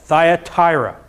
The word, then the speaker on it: Thyatira: Thyatira that's if you didn't know how to pronounce that Thyatira and will begin in verse 18 where it